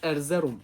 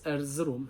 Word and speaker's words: Erzurum: û herî dawî jî ser navê Erzeromê niha ez Erzerum bikartînim. Hin kes Erzurum, hin kes Erzîrom û çendîn telaffuzên din hene lê bêtir Erzurum û Erzerum tê bikaranîn.